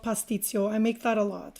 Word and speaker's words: pastitsio: It's called pastitsio. I make that a lot for my It's not kids. It's like moussaka. Can you pronounce that again? Pasticcio? pastitsio.